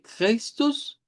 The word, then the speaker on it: Christus: Luego, la siguiente, en el nombre de Christus, pues vamos a comenzar con una K, ¿verdad? La C se pronuncia como K. Luego la H desaparece, o sea, la H no tiene aquí sonido en realidad.